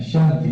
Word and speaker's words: Shanti: Shanti, né? Seria a pronúncia correta.